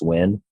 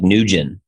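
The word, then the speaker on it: Nguyen: last name and GU y en but it's pronounced when looks like newgen but anyway I guess that's just not like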